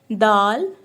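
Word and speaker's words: د: First alphabet is dal. So you may also pronounce dal between the two tips of your tongue.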